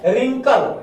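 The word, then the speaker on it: wrinkle: देखिए ये छोटका जो आर है, रिंकल, RINKL, रिंकल, रिंकल मतलब होता है झुर्री झुर्री सा जो आपके चेहरा पे हो जाता है। देखो W साइलेंट है, ई आर छोटा आर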